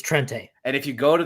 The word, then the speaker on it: Trente: It is Trente. I know, but I've seen him say Trent before. It's Trente.